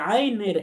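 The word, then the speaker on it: عين: পরিচয় হয়, সুতরাং এই আইনের একটা পরিচয় হবে নুক্তা মুক্ত হরফ, অর্থাৎ এটাও তার একটা পরিচয়। তো নুক্তা মুক্ত আইন হরফটি 3 আলিফ টেনে পড়তে হবে। আমাদের বলতে হবে আইন, আইন, 3 আলিফ টেনে আমাদের পড়তে হবে।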